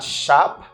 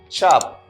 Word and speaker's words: chop: Okay, this word is pronounced like chop. Okay, we have the first sound, chop. That is not shop, but I say chop.